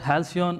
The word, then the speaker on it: Halcyon: About Halcyon IDE, that's how you pronounce it.